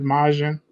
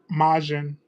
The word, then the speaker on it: Majin: what was his favorite version and he said majin. So I now know what I'm gonna be. What was that word? I know what I'm gonna be doing. Huh? What was that word? Majin.